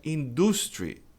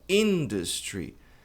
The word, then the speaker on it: industry: Muita gente pronuncia industry, mas a pronúncia é industry. Tônica tá aqui na primeira sílaba, industry.